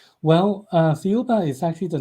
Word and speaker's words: Thiaoouba: about and I cannot figure out how to pronounce it. So I I'm sorry. Theoba. Theoba. Yes. Can you tell us about that prophecy? Well, uh Theoba is actually the name of the planet in